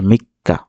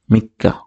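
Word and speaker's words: みっか: আছে তাই এটা কাটা দ্বিত উচ্চারিত হবে যে মিক্কা মি লিখলাম তারপরে শেষে কা আছে এটাকে আমরা দুই বচন করব মিক্কা মিক্কা মিক্কা মিক্কা এখানে দেখেন তিনটা টান আছে এক দুই তিন দেখেন খুবই সহজ কান্তি যে মিক্কা মানে হচ্ছে তিন তারিখ তারপর চার তারিখে বলে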